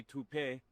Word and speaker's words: taupe: Uh, maybe toupe. Could be toupe. Yeah, I don't know. Or taupe insurance. Maybe. I don't think so. Say it right. That's t o p. That's taupe.